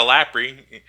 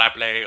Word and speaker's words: Lapri: No, I'm not gonna call her Lapley. Okay, fuck that. It's Lapri to me. I think it's supposed to be pronounced that way. Anyways, when you read it in Japanese to English, it sounds like Lapri.